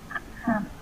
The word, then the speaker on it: come: Come. Không là sai, chị em này là A đơn thuần, hạ cầm xuống một chút thôi. Come. Come. Come.